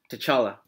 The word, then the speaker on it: T'Challa: How do you pronounce Black Panther's name? T'Challa.